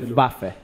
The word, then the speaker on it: Luftwaffe: La E final se pronuncia. O sea, dice Luftwaffe.